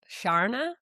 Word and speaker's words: Sharna: Like when Americans say river or Sharna, I'm just like, "Okay, here we are." But mine, like, good. it's like the R is silent in New Zealand. Yeah. Shana.